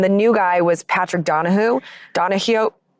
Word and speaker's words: Donahoe: Yeah, so he got replaced, and the new guy was Patrick Donahue. Donahue. It's spelled Donahoe, so that's why I said Donahoe, but it's not Donahoe, it's Donahue.